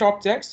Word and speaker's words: obj: So that's why I'm saying list objects using this destination bucket and give me information about contents, and store all these things in the obj variable. I'm calling this object, but it's spelled as obj, so that's why I'm